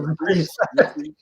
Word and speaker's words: Reprise: Reprise, actually. You pronounce it reprise.